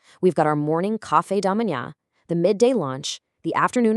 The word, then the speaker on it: café da manhã: it also happens to be our very first pronunciation challenge of this explainer. So, the term you're going to need for breakfast is café da manhã.